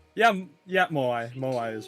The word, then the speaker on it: Moai: Am I pronouncing that name right? Moai? Yeah, Moai.